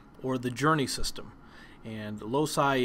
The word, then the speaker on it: loci: And loci is also pronounced as loci.